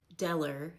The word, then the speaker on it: Della: Deller instead of Della.